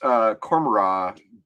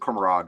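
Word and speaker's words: Commorragh: You know, you just pronounced Cormorra. Like I pronounce it Cormorag, like a little bit with a G, but I think you're probably right. And the reason why I think you're probably right is because I think Cormorra is probably based on Gomorrah, like Sodom and Gomorrah, right?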